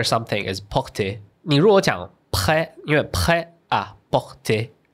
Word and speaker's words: prêt-à-porter: But when you say prêt-à-porter, because the word in the middle is so it becomes prêt-à-porter.